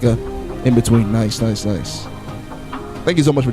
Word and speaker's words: Nice: We got Ibiza to Nice. To Nice, I should say. That's how I pronounce it.